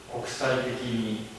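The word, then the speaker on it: 積極的に: 조사 부분까지도 국사적이니 국사적이나 積極的に積極的な. 그런데 이것은 이제 이론적으로 알고는 있는데 이해는 했지만 실제로 그렇게 발음하는 것은 결코 쉽진 않습니다. 왜냐하면 국사적이니 첫 소리 하나만 맞고 그 다음 계속 높은 소리가 하나, 둘, 셋, 넷, 다섯, 여섯 개나 계속 이어지잖아요.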